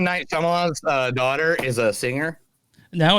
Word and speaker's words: Shyamalan: We got Shalika Shamalama and Ariel Shamalama Ding Dong. Yeah. Shyamalan.